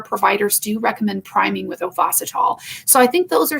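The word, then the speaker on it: Ovasitol: then also there's a supplement through theralogics called ovacitol it's spelled o-v-a-s-i-t-o-l and that one is really good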